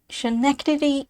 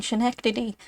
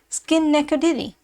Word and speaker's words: Schenectady: Already it has been called everything from Schenectady to Skinnecadiddy.